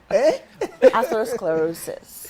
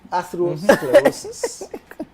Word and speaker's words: atherosclerosis: Atherosclerosis. Athero what? Sclerosis. Atherosclerosis. But sclerosis is the easy part. Atherosclerosis.